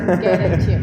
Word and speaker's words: Gerenčir: unfortunately I cannot pronounce his last name. It's too complicated. It's Gerenčir. Gerenčir.